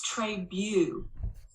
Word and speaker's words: Trabue: It's Trabue. Rhymes with pew, like in a church, I respond indignantly.